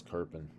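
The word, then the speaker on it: Köppen: pronounced the same way i know there's no r there and that's strange to us as native english speakers but that's the way it's pronounced as kerpin all right let's talk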